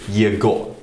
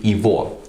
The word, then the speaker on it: его: yeah good or but we don't say year go we say evil because the because you know when those presents are together in Russia we pronounce the gut letter as over and because in a letter in a word like evil they always stressed the year will become here will sound like e so instead saying you